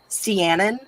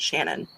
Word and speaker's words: Shannon: gold by shannon smart it looks like it's spelled siennan but her twitter page has the pronunciation that you should pronounce it shannon yeah she's also said